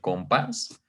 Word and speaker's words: compás: Son dos sílabas, una sílaba átona que es comp, la sílaba pas, que es perdón, la sílaba comp, que es una sílaba átona, la sílaba pas, que es una sílaba tónica.